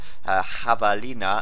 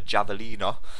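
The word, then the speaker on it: javelina: uh getting those extra Havalina as I was told because it's actually Spanish apparently and it should be pronounced with an a not a javalin like a an Englishman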